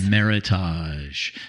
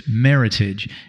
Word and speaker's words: Meritage: you want to say Meritage but they sayit it rhymes with Heritage yes so it's Meritage and then there is